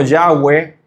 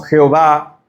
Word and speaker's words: Yahweh: Y H, que lo podemos pronunciar como Yahweh. Algunas traducciones lo ponen como Jehová, pero ese es el nombre que se está usando allí para referirse a el Señor, ¿verdad?